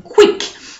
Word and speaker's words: qui: KW sound, like in quick. Okay, so in French it's qui, quand, quartier, question, and not question. Okay, so there's no w inside. It's just a k, clear, clean, crisp K sound.